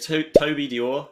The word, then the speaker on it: Toby Dore: His name's Toby Dore. Have I pronounced that correctly?